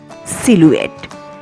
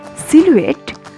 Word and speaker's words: silhouette: four house tip silhouette the spelling is si el hou e TT e pronunciation is silhouette silhouette for the silhouette children